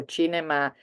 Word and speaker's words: cinema: to the cinema so chinema um is an international word really so we leave it as it is we pronounce it in Italian CI is chi V Al CA F